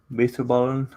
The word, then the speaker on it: bitterballen: I was looking at like food listings or like names for different cuisines like crochet or crochet, bitterballen. Oh yeah, no, you actually pronounced that correctly.